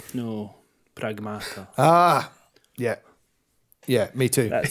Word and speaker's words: Pragmata: No, Pragmata. Ah, yeah. Yeah, me too. Just say it like Don Corleone.